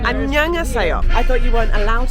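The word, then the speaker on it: 안녕하세요: Annyeonghaseyo. Annyeonghaseyo.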